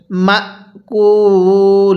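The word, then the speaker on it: مأكول: মিম হামজা জবর মা অনেকেই আমরা এই শব্দটাতে ভুল করি আমরা মিম হামজা জবর মা এরকম ভাবে পড়ি না মিম হামজা জবর মা এরকম ভাবে পড়তে হবে এরপরে কাফ ওয়াও পেশ কু লাম দুই জের লিন মা কুল লিন এখন যদি ওয়াকফু করি তাহলে হ্যাঁ এই লামের নিচে দুই জেরকে বাদ দিয়ে দিব কিভাবে পড়বো মাকুল এরকম ভাবে শিখবো তাহলে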